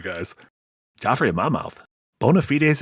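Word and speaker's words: bona fides: Bonafites is actually correct pronunciation.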